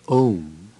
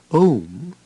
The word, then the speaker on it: Om: The first letter, A, is the root sound, the key, pronounced without touching any part of the tongue or palate. M represents the last sound in the series being produced by the closed lips, and the U rolls from the very root to the